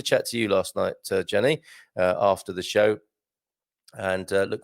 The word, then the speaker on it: Gianni: I used to call you Jeannie, didn't I? I think you said Gianni.